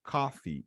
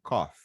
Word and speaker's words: coffee: É coffee e não cough.